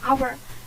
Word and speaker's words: hour: Nah ini salah ya, karena hour itu dibacanya kan hour. Ini bukan O ya, seharusnya an hour.